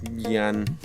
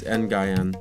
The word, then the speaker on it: Nguyen: Flappy Bird's a game made by Dong Yan. It's Nguyen. Oh. So I think it's Dong. It's Dong Nguyen.